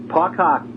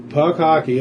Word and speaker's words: Puck Hcky: Puck Hockey. Puck Hockey, okay. We just took out the vowel.